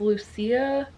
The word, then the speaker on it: Lucia: I think it's pronounced I think her name is pronounced Luc Lucia no not or it's not Louisa it's Lucia I don't know it it's a Spanish name so it's kind of